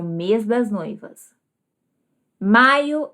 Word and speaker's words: maiô: Maio é o mês do meu casamento. Com acento circunflexo, pronúncia diferente, significado diferente, nós temos maio.